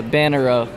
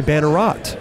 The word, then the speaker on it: Bannerot: Yeah, Bannerow. Bannerow. Okay. Yeah, the T is silent. The T is silent. Yeah. Simon Bannerow. Yeah. Everybody thought it was maybe Bannerot.